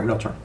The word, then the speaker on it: Realtor: Realtor. Two syllables.